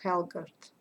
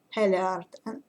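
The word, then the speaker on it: Hallgerd: The only thing I regret in this saga is that we don't know what happened to Helgard, or Heliard. I think the right pronunciation is Heliard, and her uncle Hrut, and they were very prominent figures, very important characters, in this saga.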